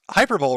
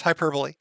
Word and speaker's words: hyperbole: videos and i noticed you would pronounce hyper bowl wrong love you daddy jim i know it's hyperbole but i i do